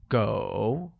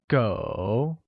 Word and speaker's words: 狗: Dog translates to go, which is pronounced with a falling rising tone. Once again, it's go.